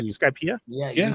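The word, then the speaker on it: Skypiea: Skypea?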